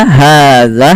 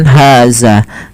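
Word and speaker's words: هذا: Kemudian pada lafal dza hadza hati-hati dan melafalkan dza. Jangan dibaca dengan haza. Jangan kita ganti dengan huruf zai ya teman-teman. Karena di sini tidak ada huruf zai, tapi yang ada huruf zal.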